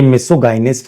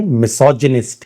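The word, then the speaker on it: misogynist: बाद में हमें पता लगा कि यह मिसोगाइनिस्ट नहीं है। मिसोजनिस्ट है। सुनो मिस सो जिनिस्ट ये इसका फनेटिकल सिंबल है। तो अगर आपको फोनेटिकल सिंबल पढ़ के स्पेलिंग बनानी नहीं आती तो प्लीज फोनेटिक्स के बैच को जरूर अटेंड करिएगा। मिसोजनिस्ट बोलिए मिसोजनिस्ट बोलिए मिसोजेनिक बोलिए मिसोजनिज्म क्योंकि जी के बाद वाई ग नहीं ज का प्रोनंसिएशन देगा मिसथ्रोप एंथ्रोपोस का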